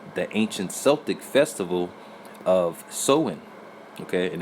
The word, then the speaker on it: Samhain: It says Halloween's origins date back to the ancient Celtic festival of Samhain. Okay, and it actually says it's pronounced so-in.